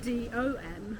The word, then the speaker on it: de: teacher yeah but in in Swedish the pronoun D yeah yeah for they that is spelled D E yes but everyone says m d o m right Dom oh Dom oh oh and also for them D that's also said D yes and this is